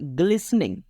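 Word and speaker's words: glistening: देखा her eyes were ग्लिसनिंग यहां पर जो टी है ना वो होल्ड रहेगी यानी कि साइलेंट रहेगी ह आइज उसकी आंखें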